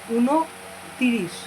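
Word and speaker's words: ঊনত্রিশ: So 29 will be uno tirish.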